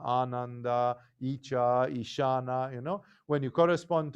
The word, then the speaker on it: Ananda: For example, Anuttara starts with a simple A, But Ananda starts with a long A that corresponds to the second.